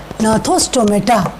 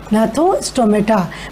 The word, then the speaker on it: gnathostomata: Now this second division is gnathostomata. That is G is silent. Gnathostomata, means those are having jaws.